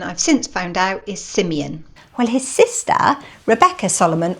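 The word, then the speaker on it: Simeon Solomon: His brother Simone Solomon became well known for his richly imaginative paintings. Pause for a second. The actual correct pronunciation I've since found out is Simeon.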